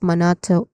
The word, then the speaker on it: monotone: All right, pronunciation wise, let's start with the first syllable moon, which is a stressed syllable moon and then followed by awa sound. uh stressed quick and and you know unstressed vowel sound. Then tone which is a dip thong sound in the middle. So this is monotone monotone monotone which has